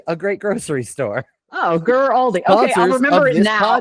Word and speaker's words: Guaraldi: How do you say it? Vince Guaraldi. Guaraldi. Nope. Still wouldn't have said that. You could have given me an hour and I wouldn't have come up with that pronunciation.